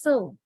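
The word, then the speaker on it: sew: S-E-W, we pronounce the word as so.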